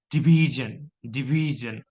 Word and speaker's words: division: Look at si also surrounded or lied in between two vowel sound I and u. So division.